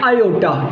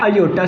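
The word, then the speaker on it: iota: उस चीज को कहते हैं आयोटा। क्या कहते हैं? आयोटा।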